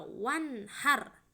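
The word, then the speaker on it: وانحر: Contohnya ini kata wanhar ya, harus dibaca jelas, wanhar. Enggak boleh kita membacanya secara samar-samar, wanhar gitu, salah ya. Maka harus dibaca jelas. Ini ada nun sukun ketemu dengan huruf ha, maka dibacanya jelas, wanhar.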